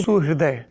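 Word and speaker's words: সুহৃদয়: मराठी में ह में अंदर जो ऐसे र लिखते हैं, जो हृदय में इस्तेमाल होता है जो शब्द, उसका उच्चारण री नहीं होता, रू होता है।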